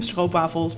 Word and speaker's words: stroopwafels: And I will just be calling them Stroopwafels because that's just the Dutch way to pronounce it.